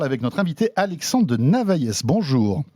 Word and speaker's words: Navailles: On en parle avec notre invité Alexandre de Navaillès. Bonjour. Je ne sais pas si on prononce le S ou pas. On ne le prononce pas. Bonjour François. Alexandre de Navaille, donc vous êtes le président d'Hertz France.